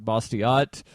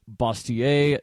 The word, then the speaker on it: Bastiat: of satire written by Frederick bastiat or more properly should be pronounced basier the French philosopher he